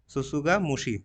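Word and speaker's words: tsutsugamushi: agent इसका क्या rickettsia ससुगा मुशी देखिए टी दोनों जगह साइलेंट रहेगा ससुगा मुशी रिकेट्सिया सुसु मुस का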